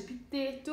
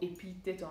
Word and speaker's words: Epitteto: Mi piace Epitteto, o Epitteto anche qui a seconda della, appunto, dell'accento alla greca o alla latina, io dico Epitteto.